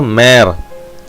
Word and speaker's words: mère: இப்போ இந்த ஏன்ற சவுண்டில் நம்மளுக்கு வந்து பார்த்தீங்கன்னா ரேக்ல ஏ, அப்போ பார்த்தீங்கன்னா ரேக்ல, mère, ஏ சவுண்ட் வருது இல்லையா, அந்த ஏக்கு முன்னாடி எம் சேர்த்திங்கன்னா மே, அப்போ மேர் மேர். ரி வி ஏர் ரிவியர் ரிவியர்.